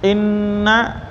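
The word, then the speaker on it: إنّا: Panjang itu karena berhadapan dengan alif, ya, jadi mad jaiz. Bacanya tahan gunah, namanya nun sadakunah atau nun musyaddah atau gunah nun. Ya, sampai dengung terasa di hidung. Inna, panjangnya minimal 3 ya, sampai 5 harokat.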